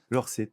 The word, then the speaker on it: L'Orset: Euh, exactement entre le garage Peugeot et la salle gymnasia à la brasserie Lorsette. Brasserie Lorsette. Lors 7, c'est de l'occient donc on va prononcer et bien sûr, on le prononce correctement.